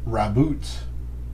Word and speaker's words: Raboot: a character in here his name is raboot and i said that's